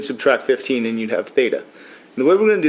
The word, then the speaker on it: Theta: so this is all fairly fairly simple the harder one here is Theta the way you say this is Theta spell it for you